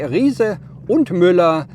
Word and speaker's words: Riese und Müller: I'm German, so I will pronounce it in German, okay?